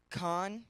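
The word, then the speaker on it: חן: so it says right here the word is con is how you pronounce it in the Hebrew and it is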